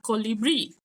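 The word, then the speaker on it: colibrí: After that, we have colibri.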